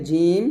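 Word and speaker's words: جيم: উপরের তাল সঙ্গে লাগিয়ে জিম শিন এন্ড ইয়া উচ্চারণ করতে হবে তো আমার সাথে বলেন জিম জিম যখন উচ্চারণ করবেন জিহব্বারটা কোনভাবেই কোন দাঁতে লাগবে না আমরা অনেকে জিম বলি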